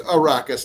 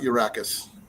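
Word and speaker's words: Arrakis: It's arraus, not urracus.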